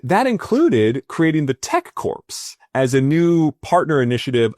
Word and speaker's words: Corps: And that included creating the tech corpse as a new partner initiative of the peace corpse. Sorry, peace corps I should say. I don't know why I'm uh you know ignoring the silent letters.